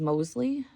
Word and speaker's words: Mosley: That is a Teresa I think how you pronounce it is Mosley, M-O-S-L-E-Y.